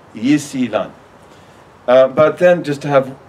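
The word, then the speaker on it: 伊斯兰: But you'll pronounce it Yisilan, Yisilan.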